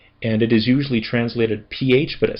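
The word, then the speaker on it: ψ: And then uh the next one is P. And this one is always hard to pronounce. It sounds like the PS in lips.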